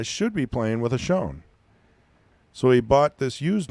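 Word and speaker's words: Schon: Old Schoen is how I pronounce it, from Milwaukee.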